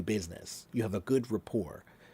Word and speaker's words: rapport: That word is not report. That word is rapport. Rapport. The T is not pronounced. It's French.